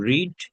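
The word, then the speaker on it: read: পড়েছে my father রেড উচ্চারণ দেখেন রিড রেড রেড বাট বানান রিড রিড উচ্চারণ রেড রেড আমার আব্বু আজকে পত্রিকা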